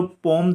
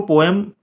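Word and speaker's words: poem: किजिंग को ये जो पोम थी वो बहुत पसंद आई थी। इसको पोएम आपने सुना होगा लेकिन पोम बोला जाता है, ठीक है ना।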